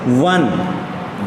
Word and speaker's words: one: But if you will say this word, 1, va sound is coming. When you say 1, pronunciation is 1.